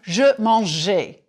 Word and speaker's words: mangeais: So this becomes je mangeais in the imperfect. Because you're adding A-I-S, you keep the E to preserve the soft G sound.